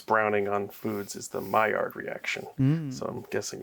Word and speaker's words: Maillard: I did You did spell it poorly, but Maillard. that is how it's pronounced.